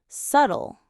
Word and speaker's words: subtle: English has many like night, right, some subtle, honest. These letters are not pronounced but affect spelling.